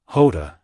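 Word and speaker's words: Jota: fastest V12 super s but the Joda as in the Spanish pronunciation of the letter hasn't been used in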